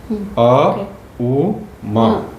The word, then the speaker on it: ओम: Actually ओम बोलने का भी एक तरीका होता है, अ उ म। तो उसको जब हम उसको प्रोनाउंस करते हैं, तो हम लोग बोलते हैं ओम। ओम नहीं है, पर ओम ओम ऐसे करते हैं।